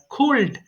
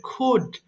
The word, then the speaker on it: could: আই কুড ডু এটাকে sometimes people pronounce this ওয়ার্ল্ড কুলড many people don't know এই কারণে তাদের ভুল হয়ে যায় আশা করি আপনারা সবাই জানেন এটা কুলড হবে না এটা হবে কুড তাহলে আই কুড ডু